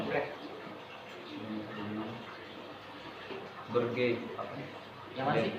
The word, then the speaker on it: Utrecht: Ulang dari awal, gue mau jelasin Utrecht itu bacanya Utrecht.